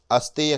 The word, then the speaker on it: अस्तेय: इसके उच्चारण में थोड़ी सावधानी रखनी चाहिए। क्योंकि कई बार उत्तर भारत में स्थान बोलने के लिए स्थान बोलते हैं या हरियाणा आदि के क्षेत्र में स आधा स बोलने से पहले अकार बोलते हैं